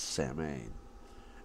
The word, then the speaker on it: Samhain: today's video is about samhain sometimes pronounced same and also the germanic